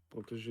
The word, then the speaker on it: protéger: Yeah, On doit devoir, prudence, protéger notre vie. Pour protéger, там с R with R at the end. Protéger. But you don't pronounce it.